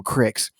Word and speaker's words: creek: Living in West Texas for many years, I crossed a lot of bridges over creeks. We actually pronounced them cricks.